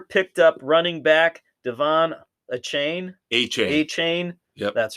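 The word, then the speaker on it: Achane: So, third rounder picked up running back Devon Achain. Achain. Achain. Yep. That's right. Achain rhymes with a train.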